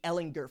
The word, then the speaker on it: Ehlinger: but getting back to Sam hard G Ehlinger for just a second